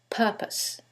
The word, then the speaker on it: purpose: However, in the first one, it's the second syllable that's stressed, and in the second one, it's the first syllable, and that changes the pronunciation completely.